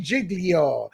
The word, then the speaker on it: Giglio: Is it Giglio or Giglio? Giglio. Oh, God, that's Italian, isn't it?